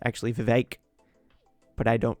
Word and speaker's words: Vivek: so vivekarama Swami and if I've been saying Vivek it's actually Vivek but I don't pronounce it right most of the times vivekan